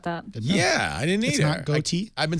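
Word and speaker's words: Gotye: didn't know about that yeah I didn't either goate I've been saying gotcha I knew it was goate I didn't realize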